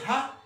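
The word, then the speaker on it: ה: Par contre, le He, on le met devant, ça se prononce Ha, on le met devant les noms.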